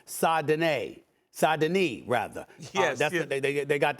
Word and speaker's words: Saint-Denis: I want to make sure I have his name pronounced correctly. Saint-Denis, rather.